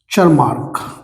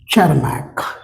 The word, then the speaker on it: Tschermak: ये मैंने पिछले लेक्चर में बताया था, बाय de Vries, Correns and Chermak, TSCHERMAK, Chermak। इसकी स्पेलिंग को लेकर भी मैंने कहा था यहाँ